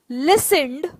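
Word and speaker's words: listen: I should have लिसनड। लिसन के बाद में हमेशा आपको टू कहना है, याद रखना, ये लिस्टन नहीं है, टी साइलेंट है।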